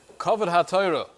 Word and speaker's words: Kavod HaTorah: I'd like to delve into the concept of Kavod HaTorah, or as it's usually pronounced, Kavod HaTorah.